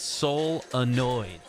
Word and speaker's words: solenoids: lot of people are trying to correct us on this pronunciation it's soul annoyed solenoids this is a fun